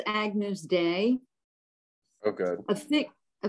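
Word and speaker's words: Agnus Dei: yeah all right and it's pronounced agnews day oh good a thick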